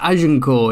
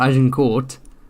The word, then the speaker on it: Agincourt: Okay, the hard T at the start of a word, fine, but you don't have a hard T at the end of a French word, right? It's Agincourt, it's not Agincourt.